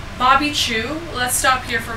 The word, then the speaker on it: Chiu: Chu is spelled Chiu.